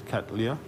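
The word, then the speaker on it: Cattleya: in there with the orchid in there it's catalya but the way it's we pronounce it is catalya okay and we also have an area in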